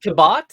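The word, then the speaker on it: Cabot: K Henry kabin yeah is it pronounced kabat yeah oh I I never knew that just he came from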